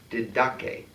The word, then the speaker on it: Didache: Didache. Okay, so there's no D on the first syllable at the end.